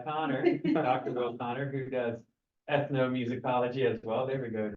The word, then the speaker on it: ethnomusicology: he uh specifically does music ethnology correct say that right no okay say it right tell me ethn musicology there we go Joey see I can